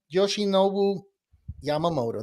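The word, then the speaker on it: Yoshinobu Yamamoto: we talked about him and we talked uh Yoshi noou Yamamoto did I say it right Yoshi noou yes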